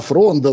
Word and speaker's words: фронда: google edge уж такой фронда фронда значит на ударение на все-таки на первом слоге то есть провода от